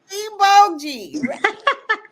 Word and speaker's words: Igboji: Bo G. The J is silent.